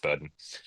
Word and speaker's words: Bowdoin: it is pronounced Bowdoin.